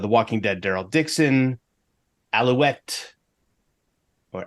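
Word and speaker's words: Alouette: Daryl Dixon, Allouette, or Allouette, as we say in the song. I can't say it without pronouncing the E, which you're not supposed to do.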